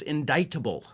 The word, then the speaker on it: indictable: indictable but of course the word she was trying to pronounce there is indictable indictable with that silent sea in there sure the C doesn't belong but it's there and you you kind of have have to make sure you know how to say the word indict indictment indictable before you try to